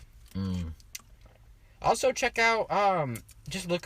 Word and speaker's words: colugo: It's Colugo.